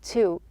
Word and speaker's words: to: Now you can see here that to is actually pronounced correctly or truly as in boo. A true T with the schwa sound, this is a way to pronounce the to.